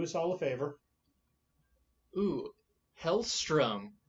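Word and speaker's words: Hellstrom: all a favor ooh hell strum did i pronounce that correctly yep i always when i was younger said hell's storm sounds like a 90s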